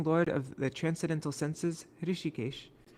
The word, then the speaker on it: Hrishikesh: The presiding lord of the transcendental senses, Hrishikesh, it's a long I in Hrishikesh, Shri Bhagavan, can be served only by transcendental senses, a process referred to as bhakti.